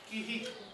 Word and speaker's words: Curie: ponto curri. Kiri. Ah, em francês a pronúncia seria kiri.